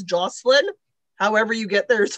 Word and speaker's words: Jocelyn: It's French. It should be Jocelyn. Jocelyn in French is male.